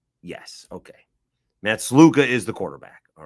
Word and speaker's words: Sluka: It's Matt uh Sluca, right? Yes. Okay. Matt Sluka is the quarterback.